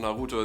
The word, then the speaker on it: Naruto: with this naruto naruto i watched it in german over a decade ago and it was called naruto there so that's what i'm